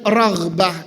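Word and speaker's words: رغبة: Ragbah itu artinya harapan. Harapan saya untuk mendapatkan kebaikan dan manfaat saya berikan hanya kepadamu. Rahbah pakai hak. Makanya hati-hati bacanya ragbah sama rahbah.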